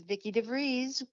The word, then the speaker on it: Vicky DeVries: Hello, it's Vicky DeVries. Rhymes with cheese.